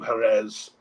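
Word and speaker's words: Jerez: was a Phoenician town jetes was the name of the town which is where was when it became a Spanish pronunciation became Herz and then ultimately as I said where it was corrupted into the word Sherry itself but there's been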